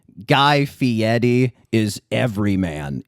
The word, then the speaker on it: Fieri: Although he does do the Italian pronunciation, the Fieri, which is the only like affect of like fanciness that Guy presents.